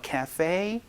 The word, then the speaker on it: cafe: Can I bring my child to the cafe? 한 번만 더. 시작. Can I bring my child to the cafe? 카페가 아니고 cafe. 이 발음 또 기억을 해 주시면 좋겠네요.